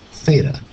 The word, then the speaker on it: theta: variable y it's it's a Greek letter it's pronounced Theta t h e t Theta so s of theta cosine of theta tangent